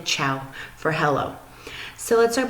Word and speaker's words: ciao: here's how they say hello they say ciao CIA oh and you pronounce it ciao alright and here's the Italian